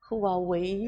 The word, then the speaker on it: Huawei: Mandarim, então ele tem uma pronúncia muito boa. Fala aí, Johnny. Huawei. Huawei.